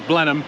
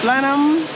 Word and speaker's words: Blenheim: to blah blah Blenheim Blenheim yeah we've been corrected as Blenheim even though it's spelled Blenheim oh yeah YouTube We